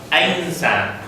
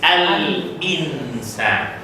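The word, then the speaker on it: الإنسان: Is it al-insan or ainsan? Ainsan. It looks like Chinese. It is not really Arabic. It is al-insan.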